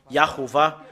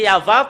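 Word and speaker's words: יהוה: Normalement, c'est Yahva. Quand on le prononce, ça devient Yahuwah.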